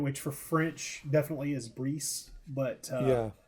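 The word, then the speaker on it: Brice: general and and it's his name is pronounced Bree, which took me forever to nail down. Bree, sorry.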